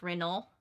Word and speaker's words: Renaud: thought Renaud was supposed to be pronounced Renault because it's French.